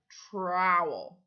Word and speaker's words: trowel: called a trowel trowel it sounds like the word towel if you take out the R it would be towel so it's trowel trowel what is this